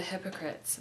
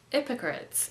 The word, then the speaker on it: hypocrites: in Trenchtown, observing the hypocrites mingle with the good people we met. He says hypocrites instead of hypocrites, because in some parts of Jamaica, people don't pronounce the H, I think.